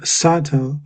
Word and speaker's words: subtle: Then I would like to ask about pronunciation of sab subtle or Oh, yeah.